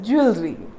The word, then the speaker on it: jewelry: Jewelry, because we just imagine that this W-E-L here is pronounced as well, but it is absolutely wrong. You know what? This E becomes silent, so it becomes jewelry.